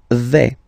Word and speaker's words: vais: The first form is je vais. Okay, so remember, final S not pronounced here. Je vais. Okay, when you combine this AI, you get the sound A, really open, okay?